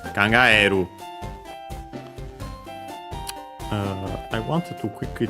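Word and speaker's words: 考える: But yeah, in other verbs including this one uh we have uh uh the accent on the usual spot. So yeah, it doesn't become uh a diphthong. So yeah, on the e kangaeru.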